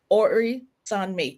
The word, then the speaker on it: Orisanmi: Orisanmi.